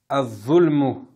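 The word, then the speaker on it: الظلم: Prochain mot, az-zulmu. Az-zulmu. Donc, je vous aide un peu, ça commence par alif lam. Mais je ne prononce pas le lam.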